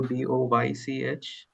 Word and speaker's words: Deutsch: So if you write Deutsch in the pronunciation in English, right, it would go DOYCH.